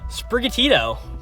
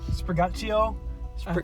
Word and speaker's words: Sprigatito: Of course, these are your starters, and our first one is Sprigatito. Sprigatito? I think that's how it's supposed to be pronounced.